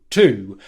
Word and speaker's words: to: She says to, where she makes a T sound and a long oo vowel sound. The second time she says it with more of a weak pronunciation and more of a schwa sound. How to. This is how we say the word to the majority of the time in English, because unless we're going